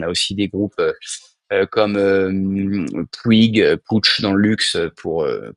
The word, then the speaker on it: Puig: SNCF Valeo, on a aussi des groupes comme Puig PH dans le luxe pour pour la bonne prononciation catalane ou des groupes comme GLS dans le transport.